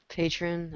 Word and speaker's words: Patreon: I can't even pronounce that shit. Patron.